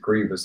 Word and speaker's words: Grievous: I think it's just Grievous, it's pronounced. I know how it's spelled, but I think we should pronounce it Grievous, like Grievous Bodily Harm.